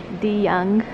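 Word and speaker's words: de Young: museum before so I brought her to the the young museum that's how you say it and that's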